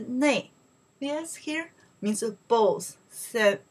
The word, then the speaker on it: 内: Okay, so then here, this way pronounced li, right? And this one pronounced ne.